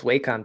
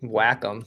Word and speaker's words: Wacom: was wrong and I also called the tablets Wacom tablets and it's really Wacom so listen everybody don't listen to our gist